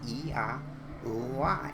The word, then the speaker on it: Yahweh: Yahweh. It is indeed all vowels, just as Josephus spoke.